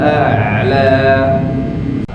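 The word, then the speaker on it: أعلى: Sabbihisma rabbikal a'la. Alladzi khalaqa fasawwa walladzi qaddara fahada. A'la, sawwa, hada yang dibacanya dua harokat, tidak boleh terlalu panjang. Rabbikal a'la, cukup dua harokat, tidak a'la panjang baik.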